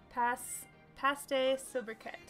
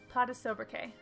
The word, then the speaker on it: Pas de sobriquet: Paste sobriquet. Oh wait, no, I said it wrong again. Pas de sobriquet.